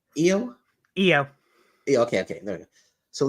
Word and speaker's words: Io: How do you pronounce it? Io? Io.